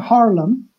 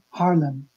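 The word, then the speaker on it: Haarlem: i v and uh harlan is h double a r l e m d harlem okay yeah okay i'll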